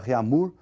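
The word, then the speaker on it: Réaumur: aí que é a escala reamur que nós vamos pronunciar reamur né que a portugues AD de novo né E essa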